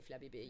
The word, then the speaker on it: Flabébé: I always say Flabébé. You can't make me say it the American way.